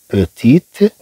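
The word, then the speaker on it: petit: اذا طبعا نقول هنا بيتي، بيتي، هذا الطي ما تنطقش. لكن اذا تكلمنا عن بيتيت مينا، اذا اضفنا هنا هذا الطي تنطق.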